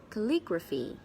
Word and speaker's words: calligraphy: of course the stress is on the second syllable Li Gras feat calligraphy calligraphy calligraphy what does it mean by calligraphy